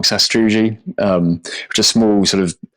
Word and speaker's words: sastrugi: uphill when there's Sas- I've always pronounced it wrong Sastrugi just a small sort